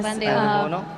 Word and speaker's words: pandebono: I think another thing that my dad really enjoyed was the um, uh, pandebono. Did I say it right? Yeah, pandebono.